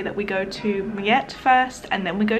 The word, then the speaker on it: Mljet: Mljet. Alan always correcting my pronunciation.